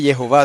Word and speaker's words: Jehová: Que el profesor Gordon enfatiza mucho que el nombre Jehová son 3 sílabas, y así lo dice él, Jehová, 3 sílabas. No como dice en español Jehová.